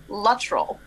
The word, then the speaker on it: Luttrell: we go please do first how do we pronounce your name and your middle name okay all right i am erica shukrani luttrell so if you are in in like no